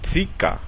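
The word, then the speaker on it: Zirka: Y si en lugar de una E le sigue una I, entonces es Tsi. Por ejemplo, Tsika, que significa aproximadamente.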